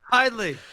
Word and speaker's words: Hidlay: They messed the pronunciation up like hundreds of years ago, and they just stuck with it.